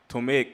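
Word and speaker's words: Ptolemaic: tal but tal Kingdom it's a Greek name you don't pronounce the P straight T just like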